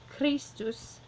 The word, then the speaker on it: Christus: Putting into its two syllables, it looks like a lot in this one syllable, but again, we have just one vowel sound here and one vowel sound here, so two syllables. Putting it, the accent on the first of the two, we have Christus and Christi.